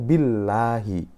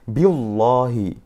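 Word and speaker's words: بالله: lamjalalah nya itu dia harus dibaca tipis Yaitu Billahi Billahi yang salah adalah bacanya biolohi nah kan ada mungkin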